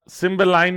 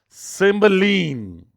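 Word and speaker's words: Cymbeline: इसको सिम्बलाइन नहीं पढ़ते हैं, इसका करेक्ट जो प्रोनाउंसिएशन होता है वो होता है सिम्बलीन।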